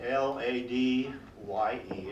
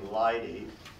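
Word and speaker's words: ladye: lady and it's spelled l-a-d-y-e and I suppose if we were in England rather than a 38th and Meridian we'd say Lighty but I'm going to say lady so here we go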